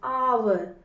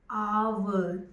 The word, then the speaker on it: hour: So when we are saying it, we are saying hour. It's starting with O. The vowel sound it's starting with. So it will be an hour. Understood, children? The H is silent here.